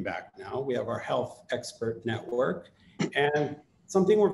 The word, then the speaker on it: HLTH: uh first of all it's spelled hlth but it's pronounced health we get that a